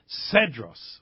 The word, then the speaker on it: Cedros: It's it's spelled Cedros Adventures with a C ce but it's pronounced Cedros.